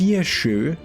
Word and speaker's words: Saoirse: And her name is pronounced Sirshu, and means freedom in Gaelic.